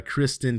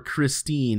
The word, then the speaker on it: Kristen: this is written by Kristen Kim or Christine if you want to say it wrong blockchain startup tourus has